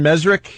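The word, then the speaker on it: Mezrich: We had our friend Ben Mesrick.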